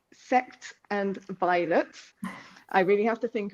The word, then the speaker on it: Sects and Violets: And then coming next year is when we're going to start really on the Bad Moon Rising, and I will pronounce it correctly, Sect and Violets.